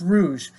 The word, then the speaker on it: rouge: is Roy's Rouge yeah it's pronounced Rouge as in the CFL um it's because of